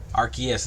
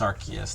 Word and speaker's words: Arceus: the newer pokemon games with like pokemon arceus arceus is pronounced arceus not arceus arceus but uh something like that